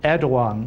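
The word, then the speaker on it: Erdoğan: true um you know i think that um erdogan which is how you have to pronounce his name i'm told in turkey i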